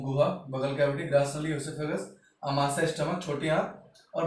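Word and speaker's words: oesophagus: फिर आप देख रहे हो ये ग्रास नली, ओएसोफेगस या एसोफेगस, इससे कहा जाता है ओ साइलेंट रहता है।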